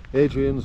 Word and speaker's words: Hadrian: we're following actually follows Adrian's wall who's Adrian's not Adrian I said Adrian silent h silent h silent h is Yorkshire Adrian's wall calls himself